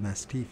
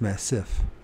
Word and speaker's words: massif: the Guyana mastif Massif is that how you pronounce it I call it mastif and it's not that it's Massif M SS I massive why do I keep